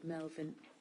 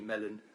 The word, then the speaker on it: Mellon: evening who's Mr Melvin who is the agent thank you good evening it's actually Mellon Melvin and Merlin the usual mispronunciation apologies thank you chair